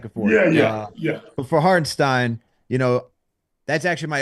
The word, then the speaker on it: Hartenstein: Harp, you mentioned Isaiah Hartenstein for a second being like a is low it key. Hartenstein or Hartenstein? Hartenstein? I think it says Stein is how he pronounces it. So I'm going with Stein.